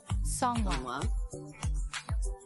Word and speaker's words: Seonghwa: The group consists of Hongjoong, Seonghwa, Yunho, who right now looks nothing like Yeosang, Yeosang, he's cute.